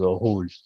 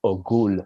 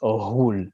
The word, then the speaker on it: Ohul: So if you read it, you might say Ogul, but it's not a G, it's Ohul with like a GH. It's almost like a rolling R.